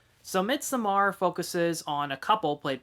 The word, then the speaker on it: Midsommar: let you know that mid Samar is no perfect movie and that's also how you say it according to the director so MIT Samar focuses on a couple